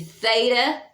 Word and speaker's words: theta: It's a TH, as in the Greek word for God is theos. So it would be your TH, it would be theta, epsilon, omicron, sigma.